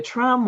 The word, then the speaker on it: Trombe: And now let me just jump in here and say a trom wall, which is spelled Trombe, is usually a thick